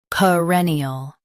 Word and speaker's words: perennial: perennial Now, read the syllables shown on the screen naturally. puh reh nul ee ul perennial Emphasize reh and soften ee ul.